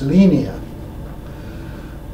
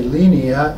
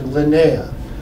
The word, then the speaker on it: Linea: Piero and the other Italians that it's really pronounced lenia well as we tried to correct the Americans here and how to say lenia it suddenly morphed into Linea for a while I put a tagline in